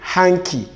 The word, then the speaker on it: hanky: them the letter d the letter d here are not to be realized okay the the next